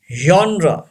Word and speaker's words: genre: say chocolate it's wrong chocolate you know Oh his silent and he is also silent chocolate say this word chocolate number seven genre yes very important genre here G doesn't give